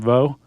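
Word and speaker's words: Veaux: Franklin Vo is how I'm pronouncing his last name. Vo. V-E-A-U-X.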